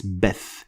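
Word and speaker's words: بث: Beth, of course, is going to look like bath when you try to write it in English, but it is not bath, it's Beth.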